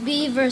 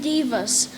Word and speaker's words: divas: Not beavers, silly. They're called divas. Look, I'll spell it for you. D-I-V-A-S.